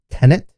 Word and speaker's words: Tenet: Trailer for Christopher Nolan's new movie, Tenet, I believe is how you say it.